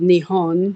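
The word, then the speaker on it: Nihon: Mark for Japan was it looks like nepon which was a transliteration of nion which is how you say Japan and Japanese um so things you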